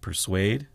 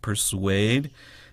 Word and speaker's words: persuade: But persuade, P-E-R-S-U-A-D-E. And you can put a W in there and get you the same exact pronunciation.